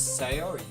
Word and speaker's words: Sayori: That girl is Sayori. That's you. I don't know how to pronounce that.